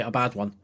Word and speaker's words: Abaddon: If you want to say his name properly, because that's how it is. It is actually a bad one.